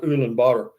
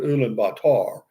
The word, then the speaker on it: Ulaanbaatar: It depends on where you look, but it's pronounced Ulaanbaatar, or some people pronounce it Ulaanbaatar.